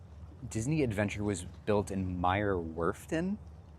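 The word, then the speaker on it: Meyer Werft: Um, so Disney Adventure was built in Meer Worfton, but pronounce that with a German accent.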